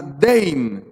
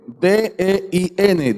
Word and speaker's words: dein: Y la palabra griega que usa Lucas es la palabra dein. D-E-I-N. Dein. Así es como la pronunciaríamos. Dein.